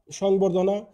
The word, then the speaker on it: সংবর্ধনা: এর সাথে যুক্ত ব ফলা অ্যকৃত থাকে যেমন সংবর্ধনা দেখো ম ফলার সাথে ব আছে আছে যেমন